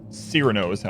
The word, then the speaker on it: Cyrano: Cyrano is how it's pronounced, Art.